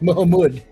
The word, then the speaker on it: Mahmoud: I mispronounced the name. It's Mahmoud.